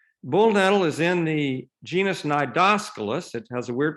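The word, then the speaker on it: Cnidoscolus: is in the genus nidoscopus it has a weird pronunciation you don't pronounce the c and that's in the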